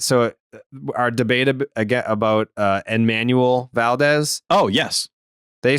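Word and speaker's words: Enmanuel Valdez: But if you're American, then the N is silent. It's Emmanuel. So I was saying it the Spanish way. You were saying it the American way.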